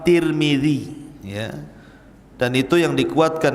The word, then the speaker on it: Tirmidzi: kota sebuah daerah dan ada yang kemudian membacanya tarmid ada turmud ada tirmid jadi ada sebagian mengatakan Imam tarmadizi ada yang mengatakan Imam turmudzi ada yang mengatakan Imam Tirmidzi walaupun yang masyhur adalah Imam Tirmidzi ya dan itu yang